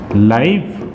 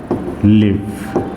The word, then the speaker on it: live: सो लिव का दो pronunciation होगा, एक लाइव और दूसरा लिव। इज the idea clear, LIVE, ये जो स्पेलिंग है फ्रेंड्स, ये दो मीनिंग देगा आपको।